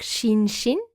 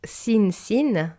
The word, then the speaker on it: Shinshin: Donc Shinshin et non Sin-Sin, le SH, de temps en temps, certaines personnes se trompent un petit peu.